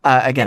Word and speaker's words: Agena: Agena. Agena. Sorry, I will pronounce it wrong for a while. No, Agena.